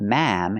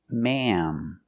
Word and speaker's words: ma'am: hear the same sound it's not ma it's maam because we have a short a before an m and other words with